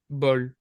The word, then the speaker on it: bol: You just wouldn't pronounce the W, you just say bol.